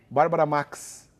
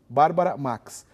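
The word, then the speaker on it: Bárbara Maix: redação né porque eh o correto seria como lembrou que a Helen Regina não pronunciar o i Bárbara Max Bárbara Max porém houve uma discussão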